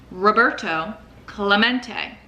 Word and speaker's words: Roberto Clemente: Roberto Clemente was his name and this is pronounced Roberto Clemente as if to introduce himself Roberto smacked the